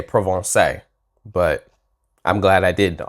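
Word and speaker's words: Provence: about to tour this I actually would have pronounced that correctly X on provance actually I was going to say provon but I'm glad I did axon provon but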